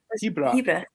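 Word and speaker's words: Hearach: How do you pronounce it? I think you were right. Was it Hebrak? Hebrak.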